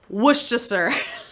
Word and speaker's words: Worcestershire: pronounce this is sad it's pronounced it's spelled wercestershire but it's not spo it's not pronounced that way it's worcestershire sauce we gotta move on